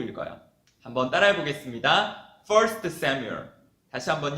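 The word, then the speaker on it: Samuel: 넣어서 구별하는데 사무엘 상 을 영어로는 1st 쎄무 열이라고 읽어요 한번 따라해 보겠습니다 1st 샘 욜 다시한번 요 1st 3 뮬 다시한번 1st 3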